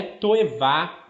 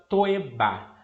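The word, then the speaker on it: תועבה: palavra abominação é que no hebraico é tu Eva ou ainda toeba dependendo da maneira como se pronuncia essa palavra tou Eva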